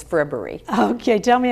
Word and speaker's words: Frippery: Only because I was talking about frippery right before fribbery, but yes, it's fribbery.